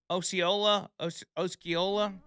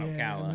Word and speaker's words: Osceola: The initial report was filed with the how do you say Osceola County? It's not Ocala. No, Osceola. Sounds good.